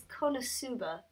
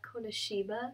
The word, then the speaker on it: KonoSuba: So it's Konosuba, not Konoshiba.